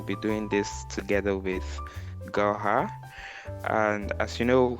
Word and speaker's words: Gauher: is functional product design with me here is goha J hi goha hello how are you I'm fine I hope I'm pronouncing your name the right way anyway that's